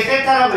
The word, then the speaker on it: 세타: 읽을 때 세타라고 읽어. 번데기가 아니고 세타라고 읽어.